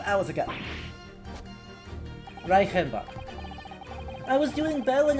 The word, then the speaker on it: Reichenbach: Reichenbach. I was doing well in your pronunciation. CH before the front vowel should be a sh sound, shouldn't it?